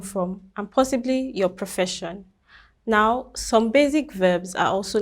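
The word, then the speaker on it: nous: and l means she we have no which means we we don't pronounce the last letter the s then we also have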